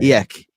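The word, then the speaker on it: Eijk: E E I J K E E I Eek.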